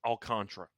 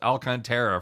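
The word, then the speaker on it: Alcantara: go through by the way memorabilia it is pronounced alcantra yeah we've uh we had we looked it UPC alcra this has been a deal it was pronounced alcanta for the first two two Seasons By Us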